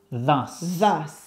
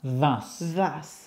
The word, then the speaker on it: thus: Look at my mouth. Thus. Hay que sacar la lengua. Thus.